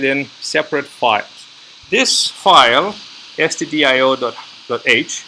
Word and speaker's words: stdio.h: This file, stdio.h, and it's not studio.h, as some might be tempted to misspell it. It's stdio standing for standard input output, right?